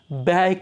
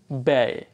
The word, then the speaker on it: ব্যয়: যেমন প্রথমে আমরা দেখছি আয় বুঝে ব্যয় করি, ব্যয়। এখানে কিন্তু আমরা জানবো যে বয় জফলাতে এই জফলার কারণে উচ্চারণটা হবে অ্যা, অ্যা উচ্চারণ হবে, ব্যয় করি, অ্যা।